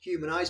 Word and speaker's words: Humnize: So, it's pronounced human eyes but spelled humni.